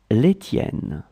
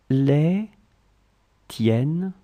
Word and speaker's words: les tiennes: So let's see how to pronounce them and what they are. Mine, les miennes, les miennes, les miennes. Yours, les tiennes, les tiennes, les tiennes.